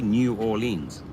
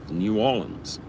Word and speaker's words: New Orleans: it and i was i was apparently saying it incorrectly for for four years and then a few people say no it's it's not you don't say new orleans new orleans alrighty now i know